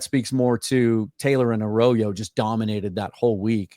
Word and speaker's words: Arroyo: I always want to say Arroyo, but it's pronounced Arroyo.